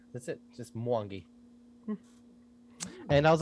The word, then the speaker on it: Mwangi: And I was like, and she pronounced it, and I was like, well, that's how you pronounce it. Oh, so nice. So it's just Mwangi. That's it. Just Mwangi.